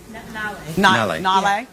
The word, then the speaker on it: Nayla: How do you say this? Nale. Nale. Cute, cute.